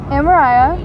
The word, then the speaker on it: Amariah: Amariah, you pronounce it like Mariah, just with an A.